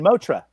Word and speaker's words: Motra: that's what i'm drinking motra is how you say it motra i'm drinking this